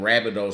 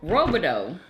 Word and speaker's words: Rabideau: I thought they were robideau. They just been saying it wrong. Like, that's how my family say it. It's not robideau. It's rabideau.